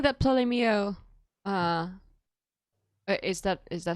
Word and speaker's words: Ptolemy: Oh wait, so are you saying that Ptolemy? Is that how you pronounce him in English, Ptolemy? That. Yeah, Ptolemy.